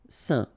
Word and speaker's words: Saint: Alright, so final T not pronounced, and then when you combine this A-I-N here, you get the un sound. Saint.